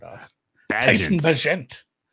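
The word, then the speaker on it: Bagent: Is it Badgent or Badge? I'm going to give it a soft Badgent. Bagant. It's like Bilbo. It's like a Bilbo Baggins situation. Yeah. Tyson Baggin. All right. Badgent rhymes with pageant.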